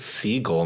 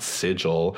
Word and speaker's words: Sigl: It's Siegel, not Sigil. Mispronounced someone's last name. Okay. In my defense, it was written Sigl, but, you know, I just wanted to make sure that I got that name right.